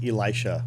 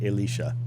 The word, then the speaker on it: Elisha: That's how you pronounce Elisha, by the way, is Elisha. That's how you pronounce it. It's very Hebrew.